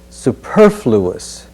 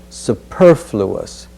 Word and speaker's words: superfluous: pronounce it as comparable the next word is superfluous and this is a tough combination of sounds superfluous if I were to ask you who flew us over the ocean superfluous superfluous superfluous over